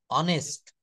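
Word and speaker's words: honest: অনেস্ট হচ্ছে এখানে এইচ এর উচ্চারণ হ না হয়ে অ এর মতো হচ্ছে, অনেস্ট, অনেস্ট। কিন্তু যদি বলা হয় দিস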